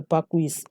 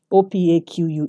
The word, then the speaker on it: opaque: their paper on an opaque paper and to pronounce the pick he said so it was really very funny so it's not a pacquis or pic opaque so you have to draft it on an